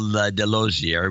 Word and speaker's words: Delosier: This is Delosier, rhymes with enclosure, enclosure, from Maryville, pronounced Merville.